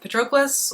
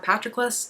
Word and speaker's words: Patroclus: This is a retelling of the story of Achilles, specifically his relationship with Patroclus or Patroklos, depending on who you ask, I guess, for the pronunciation.